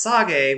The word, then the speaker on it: Sage: I do know which field Sage goes in, and I also know that it's actually pronounced Sage, which is the opposite of Age.